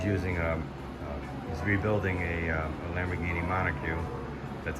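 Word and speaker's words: monocoque: He's using he's rebuilding a Lamborghini Monocogue.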